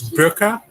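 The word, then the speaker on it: Böker: Yeah, just in case, it's Burka. That's how you technically pronounce it, Burka.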